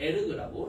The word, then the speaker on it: erg: 이 ERG는 에르그라고 읽으면 되겠고 이 에르그는 1줄이 10의 7승 에르거든.